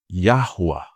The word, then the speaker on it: Yahuwah: com um som indicando uma letra U. Yahuwah.